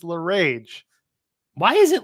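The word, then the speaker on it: LeRae: got to stop trying Candace La Cage makes no sense it's Candace L rage why is it l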